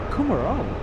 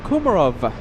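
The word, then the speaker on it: Kumarow: Kumaro. That's right. It's a W. All this time, I thought it was a V.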